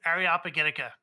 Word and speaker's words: Areopagitica: you by the way it did it took me 20 years to figure out that the way you pronounce it is areopagitica by the way Fabian